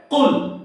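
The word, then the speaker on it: قُلْ: যেমন সূরাতুল ইখলাসে আছে কুল হুয়াল্লাহু আহাদ, বলা যাবে না কুল হুয়াল্লাহু, ছোট কাফ হয়ে যাবে, মানে নরমাল কাফ হয়ে যাবে, এটা বলা যাবে না, বলতে হবে কুল কুল কুল হুয়াল্লাহু আহাদ।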